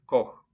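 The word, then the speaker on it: Koch: мови с буквосполучення цех вимовляється як ха після німецьких букв а о у напри наприклад Струмок де Бах книга das бух кухар das Кох і вимовляється як х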